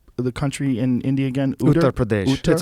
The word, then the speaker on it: Uttar Pradesh: Uttar Pradesh. It's a region. Yeah. Uttar Pradesh.